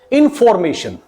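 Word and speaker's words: information: अब बेसिकली इसको प्रोनाउंस क्या करते हैं, इंफॉर्मेशन नहीं, इट इज नॉट इंफॉर्मेशन।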